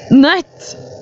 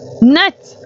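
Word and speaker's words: nøtt: So it's spelled with an er and then two t's instead of u and a t. Net. Net. Like this. Net. Pronounced almost the same.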